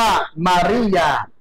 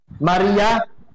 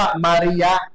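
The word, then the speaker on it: مارية: ของ นะ ตัว รอ มารียะ ความ จริง แล้ว ต้อง อ่าน ว่า มารียะ นะ ครับ แต่ ถ้า ไป เขียน เป็น ภาษา อังกฤษ เนี่ย เขา อ่าน เป็น มารียา ภาษา อาหรับ คือ มาริยะ ครับ ครับ แปล ว่า อะไร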